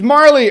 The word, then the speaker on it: Marle: to be like she's Marley or marlay or I call her Marl because that's just kind of how it's spelled that's how it's pronounced in English anyhow if the fact